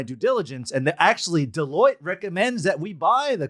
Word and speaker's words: Deloitte: pronounced, by the way, with the way it's spelled Deloitte. I know it's hard. I didn't know it was Deloitte for a long time.